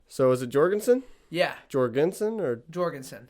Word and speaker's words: Jorgensen: So is it Jorgensen? Yeah. Jorgensen or Jorgensen. Jorgensen?